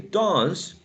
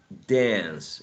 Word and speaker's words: dance: But in general, they say dance with the long R, whereas in general American or the standard English, exactly, dance with a trap, okay? Both are correct.